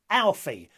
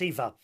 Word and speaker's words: Aoife: Now, it looks like Alfie, but that's not correct.